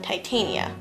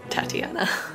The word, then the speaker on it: Titania: fairies yeah and then Queen Titania Tatiana or Tatiana however people prefer to pronounce it they pretty much